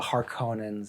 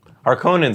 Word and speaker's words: Harkonnens: Starts to rain once Paul has sort of defeated Defeated the Harkonnens, as Frank Herbert would say, or as the Harkonnens, as David Lynch would say. Harkonnens also sounds a little bit You know, of all the David, Star Trek.